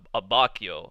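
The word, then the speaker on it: Abbacchio: and the guys okay so his name is pronounced a ba Kyo about Kyo that's how Bruno said it I'm gonna have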